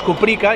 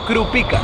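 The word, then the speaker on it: Krupicka: corrigió y me dijo Oye que siempre dices cuprica y mucha gente dice cuprica y se llama crup pica es cierto se escribe crup pica y tal eh este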